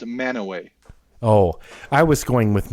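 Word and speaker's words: Mantua: Oh, but it's pronounced Manoway. Manure. What? It's pronounced Manoway.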